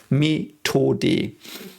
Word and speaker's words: Methode: So the TH in German is only a silent H, so it's just a T. Like TH in German is just a T. Methode.